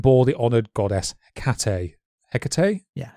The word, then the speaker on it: Hecate: Hecate? Yeah, Hecate. Should have made more of an effort to look up some of these pronunciations.